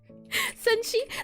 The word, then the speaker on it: Senshi: Senshi, yes, you could do the ref right.